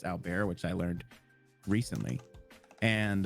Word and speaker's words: Albert: He's French, so his name looks like Albert, but it's actually pronounced Albert, which I learned recently.